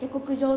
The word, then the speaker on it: 娘: 思いますこちらです娘と書いて下国上と読みますはいえ自分の